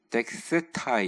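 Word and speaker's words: δέξηται: 헬라어로 덱셀타이 덱세타이 이렇게 발음하는데 이거는 말 그대로 이렇게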